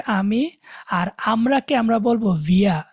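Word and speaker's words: wir: ইস মানে হচ্ছে আমি, আর আমরাকে আমরা বলবো ভিয়া। ডব্লিউটাকে আমরা বলছিলাম না ভি এর মতো উচ্চারণ হবে, ভি ডব্লিউটা। তাহলে এটা বানানটা দেখেন, ভি ই এর বা আরটা আর কি, ভিয়া।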